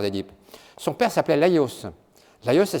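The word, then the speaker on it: Laïos: rien à l'histoire des dips son père s'appelle la yos d'ailleurs ça s'écrit lai tréma os Laos le père d'edits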